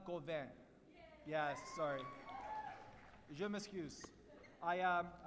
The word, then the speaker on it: Gauvin: and present to Emma Gouven. I said it wrong, right? It's Gouven? Just a little bit. What is it? Gouven? Gouven, yeah. I'm going to say her name again. It's Emma Gauvin.